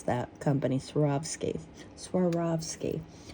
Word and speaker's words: Swarovski: have a little bit of anxiety before they pronounce that company sski Swarovski Swarovski see there is also the swan on the